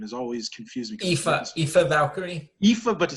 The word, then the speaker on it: Aoife: Aoife Valkyrie.